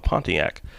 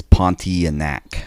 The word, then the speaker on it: Pontianak: a story of a pontiac i'm i'm so sorry if i'm pronouncing that wrong you but it's almost have it it's pontianak pontian there we go uh it's an indonesian